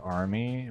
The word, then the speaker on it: R_me: But yeah, the the name is just uh this guy's name is R_me, pronounced army because he's an army necromancer.